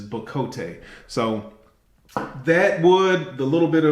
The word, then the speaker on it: bocote: And from all the research I did, that's my understanding of how you pronounce it, is bocote.